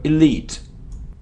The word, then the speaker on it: elite: ear elite elite and the stress is on the second syllable it's also very important my friend brilliant so elite okay my friends thank